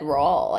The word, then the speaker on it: Rawle: I thought it was but Rawle. The audiobook said Rawle, I think.